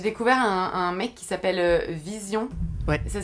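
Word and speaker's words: VZION: YouTube, mais j'ai découvert un mec qui s'appelle Vision. Ouais. Ça s'écrit V-Z-I-O-N.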